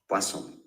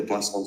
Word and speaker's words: Boisson: Poisson. Rhymes with croissant, especially if you mispronounce it like I'm probably doing. Very shortly. Like I'm probably doing. For now, enjoy the Boisson success.